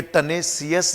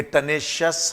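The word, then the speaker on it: tenacious: जिन शब्दों के लास्ट में IOUS आता है, स्पेसिफिकली अगर ये IOUS T या C या X या G के बाद अगर ये IOUS हो तो इस I का प्रोनाउंसिएशन नहीं किया जाता। तो ये टेनेशियस नहीं है, ये टेनेशियस है। कॉन्शियस नहीं होता, कॉन्शियस होता है। एम्बिशियस नहीं बोलेंगे, एम्बिशस बोलेंगे। क्लियर? एंक्सियस नहीं होगा, एंक्शस होगा।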